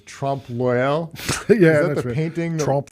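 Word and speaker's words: trompe-l'œil: I don't even know how to pronounce it. It's Trompe L'Oeil.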